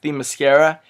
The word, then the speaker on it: Themyscira: Additionally, the cinematography, I found it to be beautiful, especially the scenes on, I think it's pronounced Themyscira.